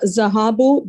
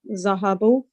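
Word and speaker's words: ذهبوا: it being feminine uh zahabu they went the subject is the wa the alif after the wa is not pronounced zahabu and then they went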